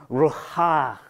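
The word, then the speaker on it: רוח: Now, I want you to understand, in Hebrew, there's a word called wind, and it is pronounced Ruha. It's Ruha. And it sounds like the wind when you say it, right?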